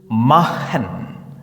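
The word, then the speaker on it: machen: കോമ്പിനേഷനെ നമ്മൾ ഹ എന്ന് ഉച്ചരിക്കും ഉദാഹരണത്തിന് ദാസ് ബുഹ് മഹൻ ദ ബഹ സൂഹൻ അല്ലെങ്കിൽ കൊഹൻ അതും അല്ലെങ്കിൽ ലാഹൻ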